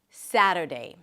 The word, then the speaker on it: Saturday: Primary stress is on the first syllable. Saturday.